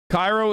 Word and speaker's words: Cairo: that there isn't one cairo illinois is pronounced cairo instead of cairo wait really wait how